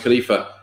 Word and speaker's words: khalifa: word for human beings is khalifa which is pronounced khalifa which is a unisex word name and depending